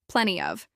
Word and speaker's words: plenty of: Mild is an adjective modifying infection, plenty of. This is pronounced with stress on plen, and of is often reduced.